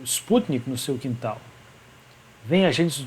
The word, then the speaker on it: Sputnik: E nesse filme, o que acontece é que lá há um camponês bastante humilde que cai, o Sputnik, quer dizer, o Sputnik, essa é a pronúncia correta.